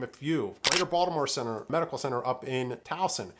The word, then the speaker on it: Baltimore: So again, it's B-A-L-T-I-M-O-R-E, all right, Baltimore. But you will hear it pronounced two different ways aside from that. You will hear it Balmer, B-A-L-M-E-R, or you'll hear it Baltimore, okay?